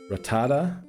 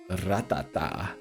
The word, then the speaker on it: Rattata: Rattata, not Rattata. That's how Ghost used to pronounce the name.